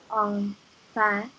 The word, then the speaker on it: enfin: So every time you see an in in French, just say ah.